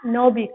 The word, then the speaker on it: knobby: K is there, but we will pronounce it as knobby. K वहाँ पर silent रहेगा.